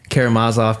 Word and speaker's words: Karamazov: still get it right karamazov karamazov Kad Kad it's the ne it's the penultimate syllable that's emphasized in Russia not that I really